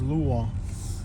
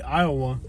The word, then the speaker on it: Iowa: to school in Kentucky instead of teaching me how to pronounce it Iowa they taught me how to pronounce it as luwa because they're trying to pronounce the Lu the same way they pronounce Louisville so instead of teaching